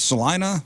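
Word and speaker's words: Celina: So is it is it is it Selena, Texas? Salena. Salena, Tennessee. I'm sorry. There is a Salena, Texas. Uh Selena, Kansas. Salena. Salena, Tennessee. Got it. Yeah. Well, to be fair, literally everyone who sees the name of the town says Selena, so I think that maybe we say it wrong, but like it's our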